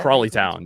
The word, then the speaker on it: Crawley Town: We wanted to get to, how do you pronounce it? Is it Crawley Town? Is that Crawley Town?